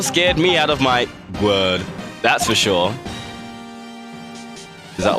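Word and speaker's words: Gourd: We learned yesterday it's pronounced Gwerd.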